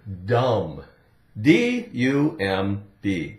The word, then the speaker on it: dumb: we have the word dumb d u m b Dum again we have um um um du the D D um silent be now dumb dumb what dumb really means